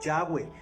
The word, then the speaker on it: Yahweh: En hebreo su nombre es YHWH, Yahweh. No tiene vocales, pero en la pronunciación se le pusieron como para poder pronunciar